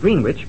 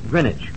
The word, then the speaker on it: Greenwich: name of the place it's spelled as if it were pronounced green witch but it's called grenwich yeah s so it'll